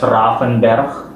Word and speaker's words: Ravenberg: It's pronounced in Dutch Ravenberg.